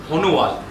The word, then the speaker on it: Sonowal: The third player is Sonowal. He's called, Assamese actually pronounce it as Honuwal, S is silent.